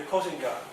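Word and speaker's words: 国姓爺: It's the Kosenga, Japanese way to pronounce it.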